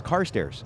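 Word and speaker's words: Carstairs: I mean, maybe it's pronounced differently, but it I mean, C A R S T A I R S. Car stairs. It is. It's car stairs. That's what I've been saying.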